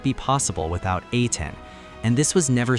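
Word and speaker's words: A'TIN: When the fandom name Ain was officially announced in November 2019, it carried meaning beyond branding. Pronounced like 18, it symbolized that fans come before SB19 because 18 comes before 19.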